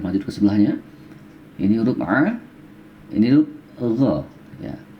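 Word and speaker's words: ع: Yang sekali lagi, a, gha. Dengar baik-baik ya, a. Agak lebih ditekan suaranya, a. Ini juga sering orang salah dalam pengucapan ketika membaca Al-Quran.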